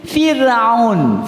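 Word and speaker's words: فرعون: Maka ro tadi, Pak, dibaca tipis. Fir'aun. Nyengir lagi, Bu. Fir. Jangan diangkat lidah itu ke atas. Kalau diangkat tebal, Fir'aun.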